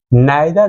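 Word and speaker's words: neither: मैंने लिखा हुआ है कि आइदर और, नाइदर नॉर. समटाइम्स इसका प्रोनाउंसिएशन कहीं कहीं निदर भी होता है. ओके, और इधर भी बोला जाता है.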